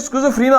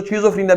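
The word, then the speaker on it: schizophrenia: तो यहां ये साइकाट्रिक स्किज़ोफ्रेनिया आ रहा है, स्किज़ोफ्रेनिया आ रहा है, इसको स्किज़ोफ्रेनिया भी कहते हैं, स्किज़ोफ्रेनिया भी कहते हैं, दोनों प्रोनाउंसिएशन करेक्ट है।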